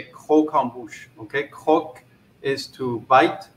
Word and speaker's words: croquembouche: one of those chef that's not how you say it you know um you say ko kombucha okay cook is to